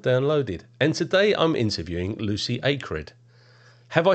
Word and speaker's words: Lucy Acred: is X job downloaded and today I'm interviewing Lucy acred have I said it right this time you